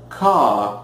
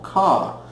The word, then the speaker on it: car: Então, no inglês britânico é simplesmente car, é um A longo, ok? Você tem um som vocálico de A longo, car. E no inglês americano você tem a pronúncia do R, car, ela é bem presente, bem marcante, né?